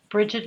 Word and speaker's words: Brighid: workshop under the upcoming events and then I'm Bridget healing on most of the platforms and my first name is spelled b r i g h ID yeah